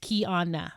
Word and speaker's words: Kiana: top of this show my name is Kiana and that's pronounced Keana right and I think